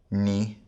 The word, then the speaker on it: nu: Now let's go through them again using the modern pronunciation. Alpha, vita, gamma, delta, epsilon, zeta, eta, theta, iota, kappa, lambda, mi, ni, xi, omicron, pi, rho, sigma, tau, epsilon, phi, chi, psi, omega.